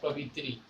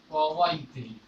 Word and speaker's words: कवयित्री: बच्चा सब लिखता है, बहुत उच्चारण करता है कवित्री, तो उस तरह नहीं, कवि का होता है कवयित्री, कवयित्री, कवयित्री, यह रूप सही होता है पुल्लिंग का स्त्रीलिंग।